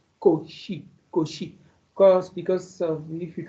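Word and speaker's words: Cauchy: But originally the name is koshi coi she as if it is sh not chosi koshi because because of if you try to really say uh coi ki that is koshi koshi.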